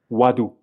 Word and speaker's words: Ouaddou: But it's w and if you replace this o and u by w it will be easier I think.